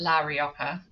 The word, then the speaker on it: La Rioja: Um, and so for those of you who don't know, or maybe I should pronounce it, La Rioja in Uh-huh.